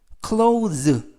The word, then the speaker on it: clothes: 이때 발음에 유의하실 것은 clothes, T-H-E-S 발음이 모두 z 발음이 나서 clothes라고 발음하시면 좋겠습니다.